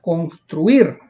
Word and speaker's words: construir: Las palabras agudas, graves y esdrújulas que aparecen acá, miren, por ejemplo, construir es una palabra aguda, construir. Lleva la mayor fuerza de voz en la última sílaba.